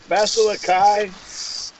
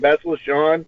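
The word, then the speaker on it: Bastila Shan: Basilikai? What the? Basilikai. Wow. What is it? Hold on, I'm saying her name wrong. What's her name? Basilishan? Thank you. Basilishan.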